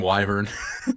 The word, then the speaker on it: wyvern: pronunciation that was good it's like wyvern and wyvern true both exactly both are valid um I decided to